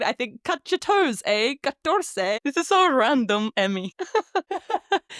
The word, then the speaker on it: catorce: So I came up with this thing in my head of it's like, cut your toes, catorce. I don't know why, but every time I remember 14, I think, cut your toes, catorce.